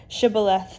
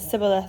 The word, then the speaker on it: shibboleth: would say to him say now shibboleth and he said sybil since he could not pronounce it right then they would seize